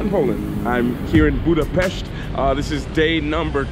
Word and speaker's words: Budapest: And the proper way for you guys, this is Budapest. That's how they say it here. I totally forgot. I kept making that mistake the last time.